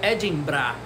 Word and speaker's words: Edinburgh: Edimburgo, que no inglês da Escócia se pronuncia Edinburgh.